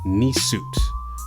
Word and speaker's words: Nisut: But a Nisut, or actually pronounced Nisut, all right, is actually short for Nisut Biti, and it's Kemetic for the one in authority.